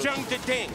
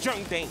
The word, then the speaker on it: Jeondding: pronounce my name correctly I'm not jumping it's jumping there there's two DS but it's a silent kiss anyways go right over